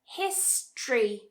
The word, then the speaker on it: history: History, history. So remember what happened before with that t, r? History, ch, history, history.